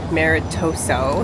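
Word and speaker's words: maritozzo: This is probably Jeff's last Maritoso.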